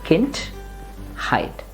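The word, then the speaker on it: Kindheit: word skin height again the stress should be on the first part which is kind remember car you have to Exhale and say hint height the first part ends in the D that sounds like Turk Kint height la la hint height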